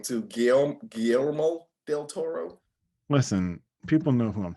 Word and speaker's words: Guillermo del Toro: there ain't no way there's no way that gomel del toro produced this clearly hold up you butcher you butchered his name too gail guillermo del toro listen people know who i'm talking about whether